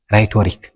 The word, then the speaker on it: rhetoric: 3 ሕጊ ሰለስተ ከዓ if a word starts with rh the h is silent በrh ዝጅምር ቃል እንድሕን